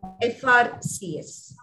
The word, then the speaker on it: FRCS: he is an frcs because f f when you say it is not it is a which is a vowel so you have to